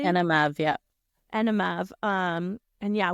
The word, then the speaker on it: ENMAV: And that is called Anim. Am I saying it correctly? Anav.